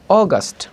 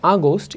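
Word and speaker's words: August: কোন ওয়ার্ডের শেষে ও অগস্ট নট আগস্ট it Willoughby অগস্ট অগস্ট অগস্ট September যদি কোন ওয়ার্ডের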